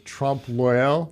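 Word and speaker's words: trompe-l'œil: I don't even know how to pronounce it. It's Trompe L'Oeil.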